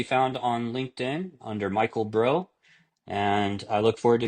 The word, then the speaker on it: Brough: on LinkedIn under Michael Bro. And I look forward to connecting with some of you. O U G H Bro. That's right. B R O U G H I'm pronounced like what's up, bro.